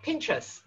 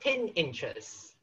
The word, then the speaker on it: Pinterest: And the website brand called Pinterest, not Pinterest.